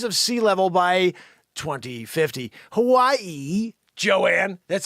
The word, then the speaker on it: Hawaii: Hawaii, Joanne, that's how you say it.